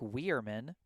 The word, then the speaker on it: Weirman: For Natick, the left fielder, number 15, is pronounced Jack Weirman.